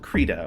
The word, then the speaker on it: Krita: so much so well called creda or krita depending on how you pronounce it I don't think anyone calls it creda but I've been proven wrong before and uh krita for